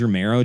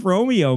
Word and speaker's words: Romero: a lot of george romero jokes but they never pronounce his last name right they keep saying like oh this is like one of those george romeo movies huh so it's a lot